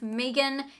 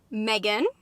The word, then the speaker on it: M3GAN: got out of seeing Megan It's not Megan it's Megan I feel like some